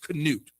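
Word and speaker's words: Knut: fail by naming him Nut. It's pronounced Canute. Wild name to choose. You say the 2005. You say in Denmark and Sweden, it's pronounced Canute.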